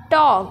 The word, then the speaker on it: talk: Look at the word टॉक, hair L is silent. अब ये जो TALK, टॉल्क तो नहीं बोलते हैं हम, है ना, टॉक बोलते हैं।